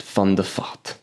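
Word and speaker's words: van der Vaart: fun theat yes that is actually how you pronounce it fond theat so this guy is 42 years old right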